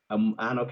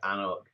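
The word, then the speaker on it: anCnoc: It's a name that many people can't pronounce because they make the C capital, even though the C in the middle is the one that you don't pronounce.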